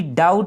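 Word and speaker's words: doubt: चूंकि हमें दिख रहा है कि डाउट में बी क्या है, साइलेंट है।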